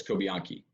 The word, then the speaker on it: Cobianchi: Cobianchi. In Italian, the CH, there's no ch sound with a CH, so it's Cobianchi.